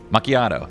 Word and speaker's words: macchiato: the speed cola there's the melee Mak macato machiato I don't know how to pronounce that macchiato that's right oh is this a Val oh